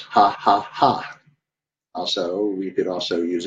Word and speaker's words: 555: Oh, and by the way, 555 is pronounced ha, ha, ha. Also, we could also use it for LOL. So if you ever see me use 555, the pronunciation for that in Thai is ha, ha, ha.